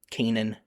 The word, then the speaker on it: Canaan: it's also called the land of Kanan or Canaan in English for the last few hundred years since our B shifted even though that's not how it would be pronounced if we're just looking at the word itself so Canaanites are usually